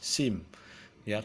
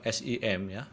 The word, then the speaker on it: SIM: sebuah kata ya umpat SIM ya kita tidak mengatakan UNP ad atau tidak mengatakan simya tetapi kita mengatakan Unpad atau SIM nah itu yang nama